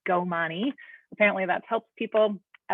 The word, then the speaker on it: Komani: My name is pronounced Komani.